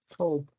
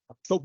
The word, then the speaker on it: cope: That is manage stress, cope with stress. Cope with stress. Yeah, the pronunciation is cope. Cope with stress. Cope with stress. Yeah, make sure you say copy or cop. Yeah, some people say cop.